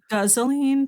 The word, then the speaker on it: guzzoline: They must have had a lot of gasoline and like kerosene around for those like it's actually pronounced gasoline, Sam.